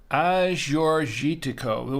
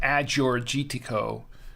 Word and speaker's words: Agiorgitiko: a-g-i-o-r-g-i-t-i-k-o and it's pronounced as your jitiko with the soft G not a hard G not an Azure GT Co or an Aggie or gitiko or something like that